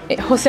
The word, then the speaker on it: José: Il faut faire la prononciation du ho. José Luis.